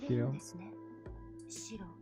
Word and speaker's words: Shiro: So this is the correct pronunciation? Shiro?